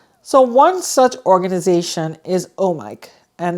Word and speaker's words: OMIK: So one such organization is OMIK, and they're pronounced OMIK, like oh Mike, like oh I have a mic in my hand and I'm talking on the radio.